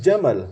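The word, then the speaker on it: جمل: bagus elok seperti itu tapi kalau pendek Jamal artinya unta seperti itu jangan salah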